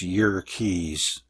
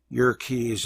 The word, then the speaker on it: Yerkes: W Hiltner of the Yerkes Observatory actually it's Yerkes wikipedia says to pronounce it that way yerkies observatory found that the light from certain stars